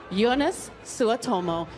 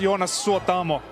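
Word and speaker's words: Joonas Suotamo: Hello, ladies and gentlemen, Jonas Suotomo. Hi, how are you this evening? I'm very good. It's pronounced Jonas Suotamo.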